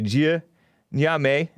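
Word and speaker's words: Gye Nyame: searched it it's a it's spelled g-y-e that's the jia nyame n-y-a-m-e that's what that guy with the deep voice was saying which is trans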